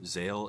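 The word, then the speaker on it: Zexal: I don't know why there's a silent X in there because the name is officially pronounced Yu-Gi-Oh Zale in Japan.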